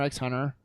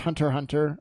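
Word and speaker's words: Hunter × Hunter: It's called Hunter x Hunter. Pronounced Hunter Hunter, I believe. Not X Hunter.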